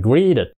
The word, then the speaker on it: greeted: Nó là chào nha quá khứ là greeted mà Mỹ họ đọc là đ đờ nha đọc hành greeted made Friends with other